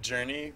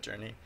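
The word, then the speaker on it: JRNE: project I call it Journey but only because the de the dev name is spelled j r n e and I pronounced that Journey it's like the uh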